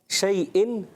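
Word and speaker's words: شيء: لا حمزہ شیء حمزہ, عین لا, یہاں پر عین نہیں ہے, کیا ہے, حمزہ. حمزہ ہے.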